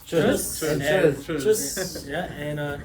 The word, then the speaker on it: Tschüss: Toots? Tschüss. Tschüss.